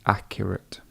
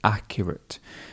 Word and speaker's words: accurate: And the results were really accurate. So accurate. Not accurate. Not accurate, but accurate. So the stress, remember that stress feature would come here.